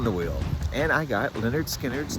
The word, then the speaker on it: Lynyrd Skynyrd: This week I spun the wheel and I got Leonard Skinnard's debut album from 1973 pronounced Leonard Skannard.